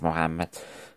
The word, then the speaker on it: Muhammad: I think it's Muhammad, to pronounce it correctly or as correctly as possible in Arabic.